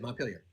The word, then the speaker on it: Montpelier: Like, how do you pronounce that? Like you just said it, Montpelier.